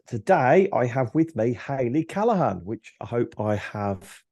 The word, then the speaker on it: Hayley Callaghan: Today I have with me Hayley Callaghan, which I hope I have pronounced correctly because people Yeah.